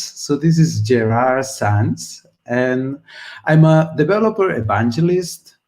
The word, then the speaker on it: Gerard Sans: this is my name is quite difficult to pronounce so this is gerard sans and i'm a developer evangelist for web and